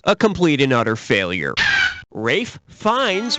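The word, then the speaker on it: Ralph Fiennes: what it is a complete and utter failure Rafe finds rhymes with safe Pines yeah he was great in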